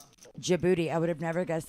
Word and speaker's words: Djibouti: Djibouti. I would have never guessed that's how you would, but I guess, yeah. The DJ. The DJ. The D is silent.